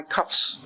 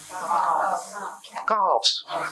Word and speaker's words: calves: someone was tickling my cuffs. You know, your lower legs. I always have a problem pronouncing that. Well, cuts, right? Calves.